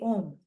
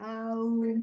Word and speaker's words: Om: Avati rakshati iti Om. It has a grammatical meaning. But then a plus u plus is equal to what? Thank God nobody said ow. That is not how to pronounce.